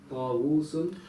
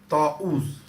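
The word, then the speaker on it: طاووس: On top of the Y was a Hamza. Yeah, the first wow is Hamza. Not Dhamma. Ta'uz. So it's Hamza there, yeah? And on the second wow, there's a sukoon.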